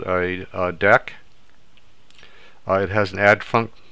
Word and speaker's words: deque: well now we're going to cover what a deck is uh it looks like dq but it's actually pronounced deck so deck also known as a